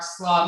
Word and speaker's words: Slaugh: We are back with Slaugh. am I pronouncing your last name correctly?